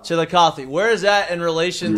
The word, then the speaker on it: Chillicothe: How do you pronounce it? Chillicothe. Chillicothe.